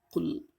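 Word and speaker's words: قُل: Jadi kalau huruf Qaf itu di tenggorokan kita bagian dalam, dia Q. Jadi jangan bacanya kul ya. Jadi kul a'udzu birabbil falaq ya.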